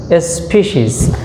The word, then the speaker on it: species: এখানে তোমরা খেয়াল করো, এখানে কিন্তু স্পেসিস না, এটার উচ্চারণটা হবে দেখো স্পিসিস।